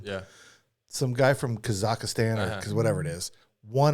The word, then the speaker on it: Kazakhstan: Russia and Belarus and Kazakhstan and Kazakhstan. That's how you're supposed to pronounce it. Kazakhstan. What were we calling it? Kazakhstan. Kazakhstan. That's how we pronounce it.